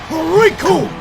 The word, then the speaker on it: Recoome: to this man, because the name's Recoome, and it rhymes with doom, and you're gonna be hurting all too soon!